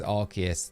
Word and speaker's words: Arceus: See, I pronounce it Arceus. Arceus, yeah. Am I wrong? I think it's well, it is Arceus.